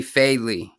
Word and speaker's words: Fadely: special guest uh jeremy fadely did i pronounce that right i hope her pronounced your last name right bro yeah you got it all right what's up brother nice